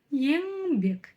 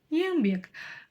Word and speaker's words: еңбек: English к енбек енбек как же ещё научиться её читать тоже очень и очень просто сначала произносим обычную русскую букву Н И чувствуем Что у нас язык во время её произношения упирается в Верхние зубы дадада н НН да А теперь произнося букву Н мы тянемся кончиком языка к верхнему ёбу и не дотягивается буква Н казахская или буква Н английская Ну в общем давайте